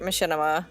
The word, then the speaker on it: Machinima: used to work for Machinima back in the day is that how that's pronounced I've never known how to pronounce that it is it is machinima fun fun fact I